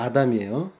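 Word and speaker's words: אָדָם: 우자처럼 생긴 카메츠가 붙으면 사람 아담이고, 파타흐, 이렇게 한일자처럼 가운데 있으면은 그거는 붉다라는, 발음은 다 똑같습니다. 아담이에요.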